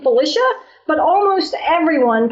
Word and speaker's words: Felicia: little while to figure it out so I pronounce my name Felicia but almost everyone pronounces it Felicia and it really doesn't bother me either way